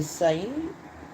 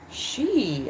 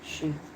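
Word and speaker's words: Sidhe: It was actually a D. But you pronounce it she.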